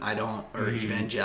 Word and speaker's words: Evangelion: Evangelion. That's how I've heard it pronounced.